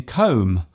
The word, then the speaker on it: comb: For example, the B in comb, womb and bomb. There is only one letter change between these words, yet they are pronounced differently.